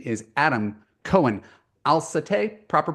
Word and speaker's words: Aslatei: His name is Adam Cohen-Aslatei. Proper pronunciation? Azlati, close. Azlati.